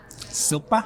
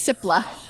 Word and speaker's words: Sipla: Silpa? Yeah, see, you didn't get that one wrong. Silpa. Yeah. I need to see it written out. Except I've said it wrong. It's Sipla.